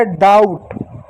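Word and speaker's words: doubt: उसी प्रकार डी ओ यू बी टी, डी का ड हो गया, ओ यू का आऊ, और टी का ट हो गया डाउट, बी नहीं पढ़ेंगे, इस बात को याद रखिएगा।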